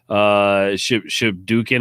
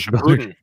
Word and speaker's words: Shippuden: Severon says last table game I played with friends was the DC deck builder game and a Naruto Shibuken. I don't know how to pronounce that deck. Shippuden.